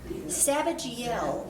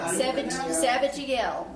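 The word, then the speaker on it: Zabdiel: It is Sabajiel is how you pronounce that. Sabajiel.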